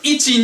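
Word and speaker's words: いち: Ichi kind of sounds like itchy, like you have an itchy. The ni is like you have an itchy knee.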